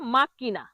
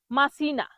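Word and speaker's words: macchina: সি এস এ কাছা কাছা মানে বাড়ি ভুল উচ্চারণ কাছাই বলে ঠিক হল কাছা পরের শব্দটি হল মাক্কিনা মাক্কিনা মাক্কিনা অর্থ গাড়ি মাক্কিনা অর্থ কি গাড়ি তাহলে এই মাক্কিনাকে যখন ভুল উচ্চারণ করে তখন কি বলে? মাছিনা।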